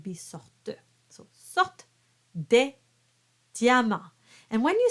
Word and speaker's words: diamant: But in this case, you treat it as a consonant, as a y sound. Dia, diamant.